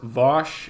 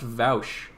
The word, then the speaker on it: Vaush: being, yes, of course, Vosh. Yeah, Vosh has never been in a controversy. I'm not familiar with that. But the whole Vosh thing is a political streamer. No, actually, I think it's pronounced Vaush.